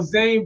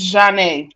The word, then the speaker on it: Zhane: I'm saying baby girl Zane I said it right hold I said your name right right it's Jan okay I said that wrong I said that [